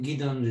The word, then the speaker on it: Gidon: as you heard i'm gideon and it's pronounced by the way on the emphasis on the second syllable and because it in